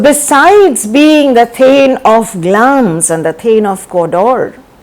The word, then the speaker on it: Glamis: Now Glamis is not Glamis, it is pronounced as Glamis.